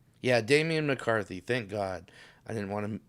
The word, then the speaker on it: Damian McCarthy: Is it Damian McCarthy? Yeah, Damen McCarthy. Thank god I didn't want to be misrepresenting this guy by saying his name wrong.